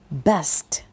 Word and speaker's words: best: นะ Do your Best Best เห็น ม คะ มัน มี ST นะ ถ้า เรา ออก เสียง ว่า Bed มัน จะ เป็น เตียง ไง ที่ นอน อย่าง งี้ ใช่ มย คะ Best แปล ว่า ดี